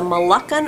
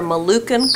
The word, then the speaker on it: Moluccan: bird she is please Jasmine is a malacon or a malukin cockatoo you will feel hear both pronunciations and you can see